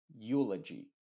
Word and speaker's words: eulogy: uno de la u por ejemplo eucalyptus Euphoria eulogy te das cuenta que esta eu la e está siendo completamente muda y la u es la que se está pronunciando con su sonido original número uno que es Yu aunque a veces se